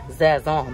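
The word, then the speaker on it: Sazón: They say I said it wrong, but like I said, it's Zazon by Goya.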